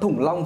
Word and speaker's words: Thủng Long: Thủng Long thứ nhất là nó rất là khó đọc. Nó là âm đóng, thủng, đúng không? Đúng không? Tại sao lại đọc là Thủng Long?